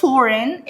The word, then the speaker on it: foreign: كلمة foreign ال G هيجي بعدها N، مش هتتنطق هتبقى silent، وكلمة foreign معناها أجنبي.